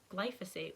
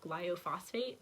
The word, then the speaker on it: glyphosate: he's also going to check my glyphosate which I always pronounced glial phosphate but basically like the